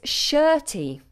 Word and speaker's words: shirty: We don't pronounce the letter R.